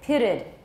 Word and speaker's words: pitted: And then for this one, it ends with a T. So we add another syllable. We put a schwa in there. We say pitted.